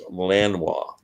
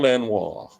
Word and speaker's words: Lanois: I pronounce l Lang's name is Daniel Lano not L there's no G it's Lanois Daniel Lanois I love it when